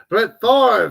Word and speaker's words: Brett Favre: Brett Favre, that's how you say it, Brett Favre, but it's all good.